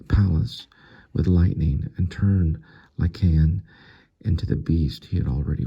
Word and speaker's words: Lycaon: So it's pronounced Lycaon.